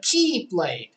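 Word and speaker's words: χ-blade: where it gets stupid it's called the keyblade but it's spelled x blade because the x is the greek letter standing for key and it's new center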